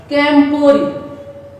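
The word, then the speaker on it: camporee: আবার আমরা উচ্চারণটা জেনে নেই। ক্যাম্পরি, ক্যাম্পরি, CAM, camp, PORE, ক্যাম্পরি।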